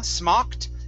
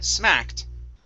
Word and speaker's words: smacked: smacked instead of SM smoked it's SMA smacked smoked smoked okay one more time so instead of SM smacked it's ah ah open your mouth wide here on this